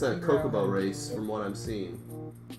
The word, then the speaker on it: Chocobo: Is the official thing Chocobo or Kokobo? Chocobo. Okay, I've been saying it wrong my whole life.